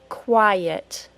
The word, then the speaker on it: quiet: to add a little Y sound between the syllables now we have quiet do you hear that Y sound quiet yet